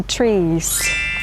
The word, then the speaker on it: tree: We are among the trees. Exactly, the trees.